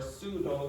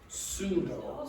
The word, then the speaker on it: pseudo: Pseudo. Pseudo. Do not pronounce the P when you have words that begin with PS.